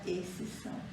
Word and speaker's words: exceção: Aqui também, esse X, colocamos exceção, não precisava do X, se pronuncia exceção. Não se pronuncia, na hora de falar, não utilizamos esse X.